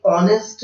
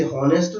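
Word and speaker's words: honest: आर, ये honour है, इसे हॉनर ना पढ़े, इसे हॉनेस्ट ना पढ़े, इसे हवर ना पढ़े। इनमें सब में एच साइलेंट है, आप ओ से साउंड स्टार्ट करके पढ़े, आवर, ऑनेस्ट, ऑनर, ऑनरेबल।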